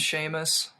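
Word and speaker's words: Seamus: Sheamus. You knew it was Sheamus the whole time? Yeah. Yeah. That's like an Irish name, isn't it? Yeah. But man, you're pronouncing everything so well. I mean, like I have told I remember when I was in high school, I was I was telling people, you know, it's actually Sheamus.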